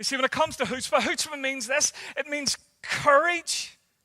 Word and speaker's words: Chutzpah: I want to introduce you to a word this morning, and it's pronounced Chutzpah, and it's not spelt the way it sounds, and it's a little bit of Yiddish slang, so it's Hebrew slang,